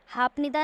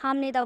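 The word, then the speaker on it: 합니다: Pock pronounce करते हैं, पर मैं इसको हाप नहीं बोल रही हूँ, हाप निदा नहीं बोल रही हूँ, हाम निदा बोल रही हूँ।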